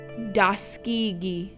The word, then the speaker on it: Tuskegee: This is how they are pronounced in the Muskogee language. Obalega, Suliagaga, Daladigi, Daskigi, Eufaula, Istiaboga.